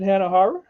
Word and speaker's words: Hanahara: I say Hara that way because for whatever reason, growing up in Buffalo, I couldn't horror. Like I can pronounce it, but to do it just kind of like, in conversation, it just comes out horror. So I like Hara.